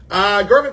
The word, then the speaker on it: Garvin: And here's why I called him this, because Mercyhurst incorrectly pronounced his name Gavin Clark the entire game.